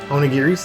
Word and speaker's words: onigiri: But if I collect these onigiris, that's what this is. In Japanese, that's actually how you pronounce this, onigiri.